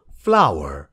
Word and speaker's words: flour: l o u r यसो हेर्दा त फ्लोर भनिन्छ जस्तो लाग्छ तर यसको करेक्ट प्रोनन्सिएसन हो फ्लावर हुन त f l o w e r फ्लावर त्यो भनेको फूल भयो र यो हो f l o u r फ्लावर यो फ्लावर चाहिँ पिठो